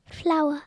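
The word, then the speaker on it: flour: comment ça se dit flower flower ça se dit comme les fleurs mais ça ne s'écrit pas pareil la farine F l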